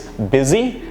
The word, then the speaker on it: busy: itself so busy is busy and you now know how to stress the word know where to stress the b is the stress and z is less stressed and you also understand